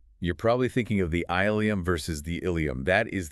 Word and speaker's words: ileum: So you have two entirely distinct linguistic lineages separated by hundreds of years that just happen to converge on the exact same phonetic pronunciation.